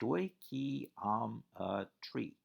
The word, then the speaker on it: stoichiometry: unit seven stoichiometry phonetically it's stoichiom a tree comes from a couple of greek words stoichion meaning element and metron meaning measure specific